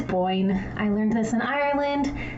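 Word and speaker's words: Boyne: And when I say Bown, it is Boyn.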